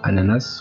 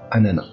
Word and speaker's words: ananas: pas changé pour information ananas peut se prononcer de deux manières c'est possible et c'est correct on peut dire à la nasse comment peut dire à nana votre exemple manger des